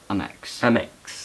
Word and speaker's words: Amex: Amex. That's how you pronounce it.